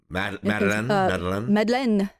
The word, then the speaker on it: Madeleine: People just pronounced it with 2 syllables instead of 3. Madeleine, which is also how my grandmother says it.